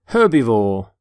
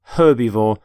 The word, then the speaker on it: herbivore: herb by the way you pronounce the H in the word herbivore for example this stomach